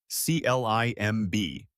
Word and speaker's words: climb: The word is climb. C L I M B. The B at the end is silent. You say climb.